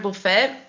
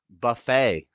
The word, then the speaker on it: buffet: it was a $20 buffet and it wasn't all you can eat a bouet buet the tea is silent buffet buffet the tea is silent Buffett she dude that's